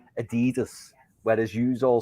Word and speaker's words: Adidas: It's Adidas. Not Adidas. Adidas.